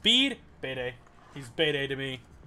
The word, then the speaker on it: Bede: It's pronounced Bede.